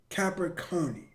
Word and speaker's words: Capicchioni: All right, my name is Capicchioni. I'm from Macomb. Y'all know I paused it. We ain't gonna speak on it. Capicchioni. Okay, that's how you say it.